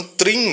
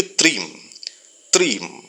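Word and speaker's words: क्रीं: ध्यान दे रहा है यहां इसका उच्चारण trim नहीं करना है यह मां करना यानि कि क्रीम क्रीम क्रीम क्रीम क्रीम इस तरीके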